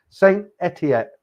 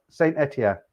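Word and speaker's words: Saint-Étienne: bloody ah uh lot forgot how to pronounce it again saint etiet saint-etienne yeah i got it uh right gary russell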